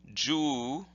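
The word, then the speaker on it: 十: would look like this and that's read jus with a long sound G and then got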